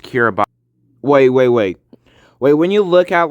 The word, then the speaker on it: Kiribati: Now, when I show you like the name of the country, it's gonna look like it's pronounced Kiribati, but like it's actually pronounced Kiribati.